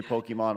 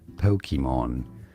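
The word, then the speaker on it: Pokémon: say it as Pokemon Pokemon but in Japanese you have to say that it said as Pokemon Pokemon so there's the a sound in the middle I don't know I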